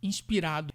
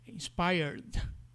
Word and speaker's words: inspired: que os brasileiros cometem muito, dá um exemplo, inspirado, inspired, com vício do português e falar inspirad, né?